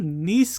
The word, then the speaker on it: Nice: होते हैं NRC लेकिन उस फॉर्म नीस कहते हैं तो नाइस ऑन उसमें थोड़ा सा फालतू आनंद शंकर डिफरेंट एस्पेलिंग से में क्रिकेट फ्रेंच में है डिस्प्ले उस स्थिति का नाम नीस है को उम्मीद है